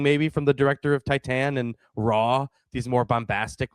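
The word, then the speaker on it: Titane: And then it's funny because Titan Titan is apparently the pronun I looked it up. That's apparently the pronunciation of it.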